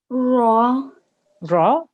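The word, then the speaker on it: ر: saying the raw you you need to end it without making a ha sound at the end so ra by itself raw good and then good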